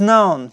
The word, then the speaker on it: known: known for its music like K and n combination if they come together we don't pronounce like K okay no reading and